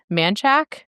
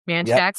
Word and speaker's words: Manchac: You're born in Hammond, Louisiana, and grew up in the swamps around Manchac. Is that how you say it? Yep. Manchac, Louisiana, which is...